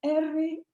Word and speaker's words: Roig: De convocatoria a lo que un uruguayo llamado Altamirano, leí que toma de Roig, no sé cómo se pronuncia, R-O-I-G, algunos pronuncian Roig, a la movilización a la moralidad de la protesta.